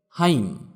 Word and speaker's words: hymn: Silent N, যেমন হাইম, এখানে এন এর উচ্চারণ হবে না। HYMN, হাইম মানে স্তোত্র বা স্তব।